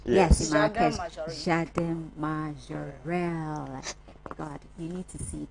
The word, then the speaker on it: Jardin Majorelle: Am I pronouncing it right? Yes, in Marrakesh. Jardin Majorelle.